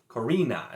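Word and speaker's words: Corenne: the koren or korrina korina is what it is even though there's uh only one e there and it's just like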